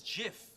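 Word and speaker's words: GIF: this stands for graphics that's a hard G so I say get what the guy who invented it says it's Jiff I'm sorry do you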